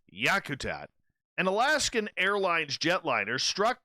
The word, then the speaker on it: Yakutat: She goes, "Do you know how to pronounce the word yak? Is it yake, Captain?" "Oh, by golly," she says. "Where's my glasses?" "No. It's Yakutat."